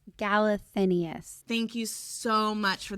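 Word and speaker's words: Galathynius: Archer is helping Celaena get information from a group of people trying to fight the king by finding Aelin Gallianthus.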